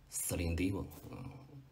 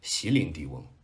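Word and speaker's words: Céline Dion: 司令迪翁，正确发音啊。很多人念席琳迪翁，那就是以前的我。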